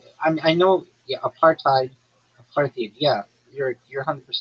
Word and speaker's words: apartheid: Apartheid.